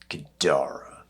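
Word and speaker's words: Ghidorah: growl low and mean something like gadara with the accent on the second syllable gadora like King gadora oh no no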